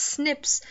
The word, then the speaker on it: SNP: locations humans may know you also pronounce it as Snips single nucleotide polymorphism this